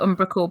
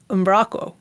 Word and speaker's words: Umbraco: there's yeah I'm braco the CEO of umbraco calls it umbraco being a Dane but I don't think